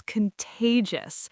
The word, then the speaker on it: contagious: And the beautiful response, your energy is contagious. That word contagious is fun to say. Contagious. The middle syllable gets the stress, and it should feel playful.